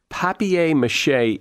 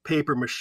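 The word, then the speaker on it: papier-mâché: it here good go papier mache is the correct spelling and pronunciation in French Laff isn't correct anywhere it's a very good point you're right what happens is that the again that we're talking about convention convention in English is as pronounced paper mache even though it's spelled papier-mache English what you're saying is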